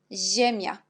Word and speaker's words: ziemia: Et quand vous voyez ZI, on prononce aussi J. Par exemple, là, on a des mots ciocia, siedem, niania. Et à la fin, ziemia. Alors, comme vous voyez, on prononce la même chose, sauf l'écriture est différente.